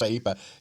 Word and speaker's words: IEEPA: that's that's if you pronounce the acronym, that's what it is, IEEPA, an International Emergency Economic Powers Act, to impose broad tariffs on imports.